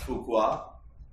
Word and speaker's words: Fouquet: Fouquet is French. How many of you know French? Raise your hand. But it is kind of pronounced Fouquet.